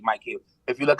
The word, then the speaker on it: Micheals: like rip Mike heels it's not Michaels it's actually Mike heels if you look how